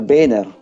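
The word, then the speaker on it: Boehner: by Obama tsaka si speaker biner By the way yun ang ah tamang pronunciation Ayaw niyang Tin pino-po niya viner Okay si speaker viner Oo ah yung nangyari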